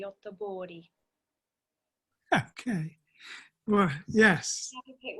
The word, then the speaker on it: Göteborg: A few years ago, and you'll remember this, Freya, we went to Göteborg, which we in England say Gothenburg, which is wrong, but that's how we pronounce it, in Sweden.